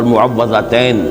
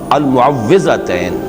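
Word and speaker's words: المعوذتين: اصل میں تلفظ میں کچھ مشکل ہوتی ہے، عام طور پر معوذتین یہ غلط العام میں اس کا نام مشہور ہو گیا ہے، لیکن اصل میں المعوذتین واو کے زیر کے ساتھ.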